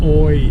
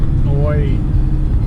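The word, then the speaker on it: อ้อย: Sugar cane in Thai is oi. Oi. Maybe I just can't ever say it. I know how to spell it.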